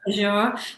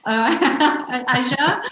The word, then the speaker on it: Azure: play with some of the tools, which I pronounced wrong, Nick. So it's actually Azure. Azure.